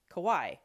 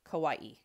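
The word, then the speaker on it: Kauaʻi: A lot of people say it as 2 syllables, Kauai, but actually it has an okina, so you pronounce the I separately, Kauai.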